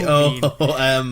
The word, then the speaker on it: Poom: P-O-O-M. I don't know. Poom, it rhymes with doom.